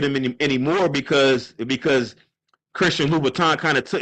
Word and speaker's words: Louis Vuitton: Vuitton is, but they don't know that it's Louis Vuitton. They don't know that they're not pronouncing it right.